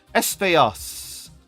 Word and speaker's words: Espejos: But Espejos, because the J is silent in Spanish, isn't it? Espejos.